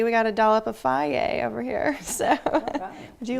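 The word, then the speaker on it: Fage: So this is Faye. It looks like phage, F-A-G-E, but it's Faye, I promise.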